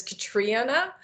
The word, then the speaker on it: Catriona: So the real pronunciation is Catriona, but it's with a C.